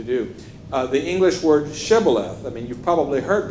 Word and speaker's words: shibboleth: and if they said shibboleth then good but if they said sibilith then you're toast okay and that's because